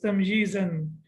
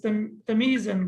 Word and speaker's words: tamjizan: So I will read it as tamjizan. Most of the people, they read it as tamizan, but it cannot be tamiz because meme is sakin.